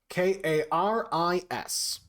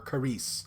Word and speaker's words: Karis: special stone called Karis k-a-r-i-s Karis or Caris however you want to call it that's how it's spelled that's how I say it and I will not